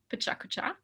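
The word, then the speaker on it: pecha kucha: First, learn how to pronounce it, pechakucha.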